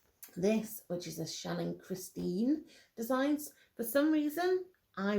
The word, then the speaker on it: Christine: For some reason, I read Shannon Christine as Christy the first time I read it. And it was only the month that I looked at it and was like, that is not how that is spelt. It's not how it's pronounced. It's Christine.